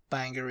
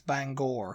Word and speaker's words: Bangor: uh the next one is banga Banger in Maine yeah say Banger apparently it's Bangor Bangor yeah Bangor bang and it's